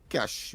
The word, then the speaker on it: cache: You better talk to the other news announcers as well, because that is how it is pronounced here, cash.